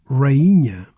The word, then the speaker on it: rainha: Another example, rainha. Here, the I becomes its own syllable, rainha, queen, instead of rainha, rainha.